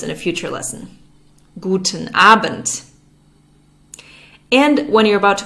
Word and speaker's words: Abend: Starting at around 6 p.m., you would say Guten Abend. Guten Abend. There's a D at the end of Abend, but it's pronounced like a T. We'll learn more about this in a future lesson. Guten Abend.